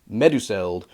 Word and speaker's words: Meduseld: same rules as Elvish so for example meduseld that one I'm pretty sure is one that's not going to be very modernized and so you get medusel you you know keep those vowel sounds very much in the vein of the Elvish pronunciation going back briefly the